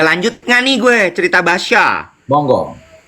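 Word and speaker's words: Bacha: minum kopi di Basya ternyata bacanya Basya bukan bukan Baka Oh Basya yang di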